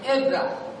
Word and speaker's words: Ebra: Bacanya Bu, Pak, bapak-bapak ya, bacanya langsung ya, Ebra. Jangan dipisah, Ebra, jangan.